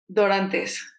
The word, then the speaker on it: Dorantes: last name Andy welcome dorantes dorantes and she said to me if you want to roll your RS and I was like